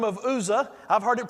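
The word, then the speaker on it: Uzzah: by the name of ouzo I've heard it pronounced who'sa as a user I've heard it every kind of different way here but this was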